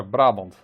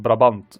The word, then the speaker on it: Brabant: just didn't work and here we're going to smash some troops from brabant because that's how we pronounce it in the netherlands uh i don't think the belgian pronunciation is much different though i don't have their particular accent uh but yeah brahms not brabant as i hear some people do well then again i